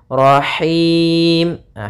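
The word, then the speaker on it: رحيم: biar rnya juga tebal Rahimah hati-hati dalam pelafalan Ha ini ini H kecil dari tengah tenggorokan kita rahim kemudian di ini ada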